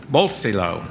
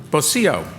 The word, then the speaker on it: bolsillo: Bolsillo. Bolsillo.